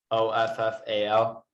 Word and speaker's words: offal: another word awful do you know this one o f f a l it means uh the intestines of an animal